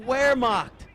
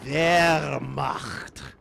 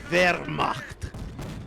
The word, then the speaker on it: Wehrmacht: It's just the wrong letter in the way most people say it is the R. You have to roll the German R. It's Wehrmacht. You really gotta give your all, baby. You gotta the CH and you gotta the R.